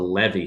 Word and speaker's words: Levee: i say it right the levee studios not levy studios but the levee studios uh these are